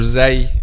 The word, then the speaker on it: ز: be individual mistakes like pronounce zay or they like letter vel okay the letter that